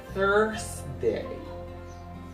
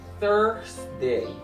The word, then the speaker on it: Thursday: is pronounced like that Thursday Thursday look you up tongue between your teeth it is Thursday Thursday Thursday music